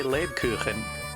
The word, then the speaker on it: Lebkuchen: And I did brush up on my pronunciation a little bit, so now I can properly say Lebkuchen.